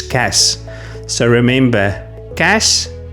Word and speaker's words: cache: And case, some people see the silent e at the end and think it makes the a long. It doesn't. It's cash.